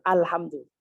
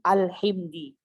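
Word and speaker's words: الحمد لله: Kan alhamdulillah. Dia tidak boleh membacanya alhamdu. Itu nggak boleh. Atau alhimdi, alhi. Jadi fathah, yang tadinya fathah dia kasrohkan. Ini nggak boleh, berdosa dia.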